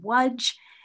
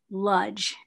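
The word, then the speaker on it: Łódź: l-o-d-l-o-d-z lodge but in in polish it's pronounced waj and in yiddish lodge and i'm going to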